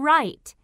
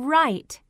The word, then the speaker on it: write: This boy can write. What's the beginning sound in write? R. That's right. R. Write. Can you hear the w sound in write? No. That's right. The W is silent.